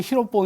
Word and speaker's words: 히로뽕: 만든 지 필로폰 있어요 일본식 발음으로 1번지 히로뽕 이니까 보통 히로뽕 위로 뻐